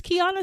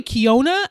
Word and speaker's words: Kiana: I would be like, "Hi, this is Kiana speaking." And they would be like, "Hi, Kiona." And I'm just like, dude, like I literally said my name.